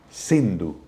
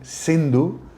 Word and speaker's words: Hindu: llama río sendo entonces en farcy persa la es ese se pronuncia como una H aspirada Entonces ellos En vez de decir sindu empezaron a decir hindú y llamaron a ese